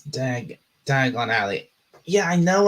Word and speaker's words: Diagon Alley: It's Dagony. It's Dagon Alley.